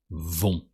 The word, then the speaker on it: vont: The verb go with they in French sounds vont. So with the same ONT with a silent T that sounds on.